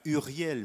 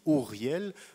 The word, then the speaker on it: Uriel: très joli prénom d'ailleurs en français on prononce u he Uriel mais en hébreu le son u n'existe pas on dit Riel Riel c'est un très joli